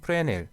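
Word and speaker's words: Fresnel: 이제 프레넬 리케이션 인데 여기에 매수는 묵음 이더라구요 프레넬 이라고 부르고 그 상 역시 사람이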